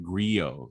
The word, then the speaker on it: Grillo: frankly actually he's uh his real name is pronounced frank griot he's he's actually half